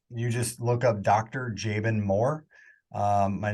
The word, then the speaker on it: Jaban Moore: to find me you just look up Dr jaben Moore my name is spelled j a b as in boy a